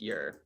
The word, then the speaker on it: Ure: But my actual last name is Ure, pronounced Youre.